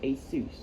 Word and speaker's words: Asus: Also, if you're wondering how to pronounce that, it's Asus, not Asus. Or however else you pronounce it. It's pronounced Asus.